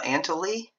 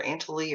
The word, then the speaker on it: Antlia: that's zeta and uh antoli i think that's how it's pronounced it's either antholy or aunt aunt lee i think it's ant leah zeta and lea so